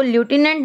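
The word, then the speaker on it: lieutenant: ये आप इसको लेफ्टिनेंट नहीं पढ़ेंगे, you will pronounce it लेफ्टिनेंट।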